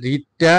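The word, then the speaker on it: read: With hmm should you have রেড, এটা রিডটা কি হবে? যেহেতু এটা হ্যাভের সাথে বসছে past participle form, past form and past participle form রিডের, হ্যাঁ, এই দোনোটা স্পেলিং একই কিন্তু উচ্চারণ করতে হবে রেড।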